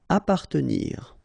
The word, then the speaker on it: appartenir: Appartenir. Okay, double P. Basically, you don't pronounce the double, so you just pronounce appa.